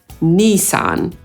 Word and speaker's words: Nissan: A więc oddzielnie /n/, oddzielnie /iː/ – /ˈniːsɑːn/.